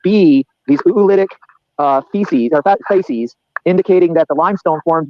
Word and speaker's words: facies: I don't know how to pronounce that word. Facies. Thank you. I didn't want to say feces. I wanted to say facies.